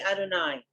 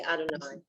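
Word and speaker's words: יהוה: It has no vowels. You just say Adonai.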